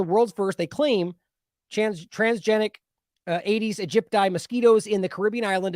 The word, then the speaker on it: Aedes aegypti: Let's see how to pronounce it. Aedes aegypti.